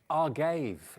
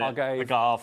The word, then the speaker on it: agave: Andrew says, it's pronounced Argave. Is that right? Is this Andy Love? It might be. Probably Andy Love. Argave. We'll just carry on calling it agave.